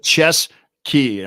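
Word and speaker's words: Ciezki: thank you ches Sky it's almost like chess key don't I I had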